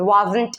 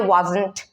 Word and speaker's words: wasn't: Okay, so and same here, the where if you say you were singing, if you don't pronounce the t, then it will be wrong. So generally when you pronounce that is wasn't and weren't, you have to pronounce what?